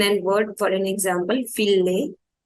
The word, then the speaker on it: fille: Fille will be pronounced as fille. Fille. That is same, ILL will be pronounced as double E, but it will also have sound of E and double E both. So it will be fille. Fille. Fille means girl.